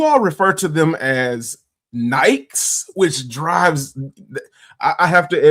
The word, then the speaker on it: Nike: a little crazy because the term is Nike, and for whatever reason, people in the UK don't like to pronounce certain vowels or letters or things like that. And I'm just like, it's not Nike, it's Nike.